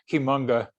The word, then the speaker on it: Cuyamungue: I'm glad you correct my pronunciation, Cuyamungue. Cuyamungue.